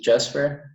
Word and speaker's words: Jasper: 21 years old um so you should probably pronounce it jasper and then um peterson as in jordan peterson i'm not sure if you know him but that's basically the english version of my last name so i'm 21